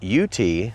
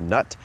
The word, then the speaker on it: Knute: lock into your Carabiner that's a KN nut I think that's pronounced nut and I'm talking about